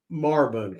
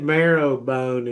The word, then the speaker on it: Marrowbone: So if you said Marbone, like if I told anybody, I would say, where do you live? And I'd say up Marbone Creek. Yeah. Well, the way you spell that is actually Marrowbone. But if you said Marrowbone and Kermit, people would look at you like you done lost your mind.